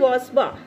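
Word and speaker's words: bourgeois: और ये जो वर्ड है इसकी स्पेलिंग कुछ है, इसका प्रोनंसिएशन कुछ है, तो इसको हम बोलते हैं वाजवा.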